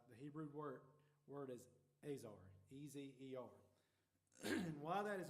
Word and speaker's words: Ezer: The word help in the Bible, and this might not be pronounced right, the Hebrew word is Ezer, E-Z-E-R.